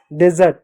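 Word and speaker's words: dessert: अगला शब्द है डेजर्ट, डेजर्ट नहीं डिजर्ट, डिजर्ट मीट होता है मिठाई।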